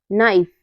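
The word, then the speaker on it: knife: के के बाद एन आए तो हमारा के साइलेंट रहता है जैसे है knock need नाइफ नो नी knowledge in सब में क्या है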